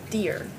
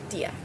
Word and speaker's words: dir: If I had a strong American accent, I would say dear. But it's pronounced in German, dia.